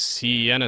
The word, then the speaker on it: Siena: consider so whoops yeah you almost pronounce my name correctly it's Siena okay uh ready T